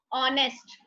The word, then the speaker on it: honest: Honest. It starts with H, but its pronunciation is honest with O.